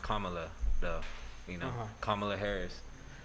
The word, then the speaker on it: Kamala: why he he chose uh her name is pronounced kamala though you know kamala harris so i i